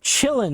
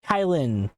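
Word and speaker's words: Kylin: And it's pronounced Chillin', not Kailin. It's Chillin', I think. Somebody who speaks Chinese is going to come across this video and be like, "Oh my god, you butchered my language," and I'm sorry. I don't speak Chinese.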